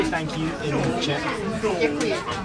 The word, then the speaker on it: děkuji: Děkuji. Děkuji.